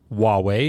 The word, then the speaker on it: Huawei: transliteration for a reason the beginning is pronounced the same as wand so if you can